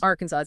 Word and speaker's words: Arkansas's: Arkansas's even though that was a silent, you still use the apostrophes for possession.